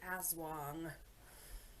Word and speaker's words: Aswang: I am covering the Aswang.